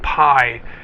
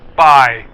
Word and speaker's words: Pai: spelled p Ai and a lot of foreigners pronounce it piie like in uh banana cream pie but it's pronounced by as in bye-bye so we started planning